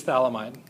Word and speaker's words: phthalimide: It is phthalimide. PH silent. pH is silent.